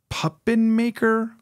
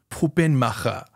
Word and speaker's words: Puppenmacher: "It's pronounced Puppenmacher," he responded, saying the name in a German accent.